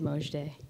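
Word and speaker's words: Mojde: my names before my name before it is Mo day now you know I can spell that for you m o j d e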